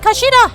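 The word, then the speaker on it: 頭: It's written as head in Japanese, but it's pronounced kashida, I believe.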